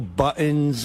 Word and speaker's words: buttons: It's buttons. T. You got to say a T.